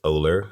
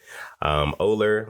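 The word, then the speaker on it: OLUR: R and it's pronounced Oller like polar without the P Oller like I said it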